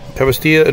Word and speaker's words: Tavastia: So you guys have a live album, Queen of Time, live at Tavastia. Is that the right way you pronounce it? Yep. Tavastia, dropping October 13th.